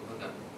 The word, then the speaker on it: Ghadar: Now the Arabic word Badr, G-A-H-A-D-R, there is no vowel at the end, but in Urdu and in ordinary Urdu it is pronounced Badr, means perfidious action, treason.